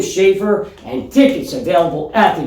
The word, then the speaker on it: Leigh: Do you pronounce that Leigh at all? I had No. confusion with it when I saw it, because it's No. like sleigh, but with We'll take Vivian Leigh. the S isn't there. Or And Jayme Leigh. some people don't even know how to pronounce it, call it leg.